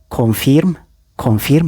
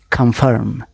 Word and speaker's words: confirm: confirm. You're wrong. so ምን ይሆናል ማለት ነው? confirm. እዚህ ጋር ፊርም የሚለው ይቀርና ፈርም ነው የምትሉት ማለት ነው። ኮንፈርም I was confirmed as a gang member.